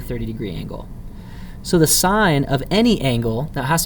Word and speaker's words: sine: key that says sin it's actually not sin it's short for sine so you pronounce that sine and it's that that